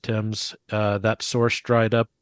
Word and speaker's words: Thames: and you know like Thames but it's actually pronounced Tim's uh that Source dried up uh two weeks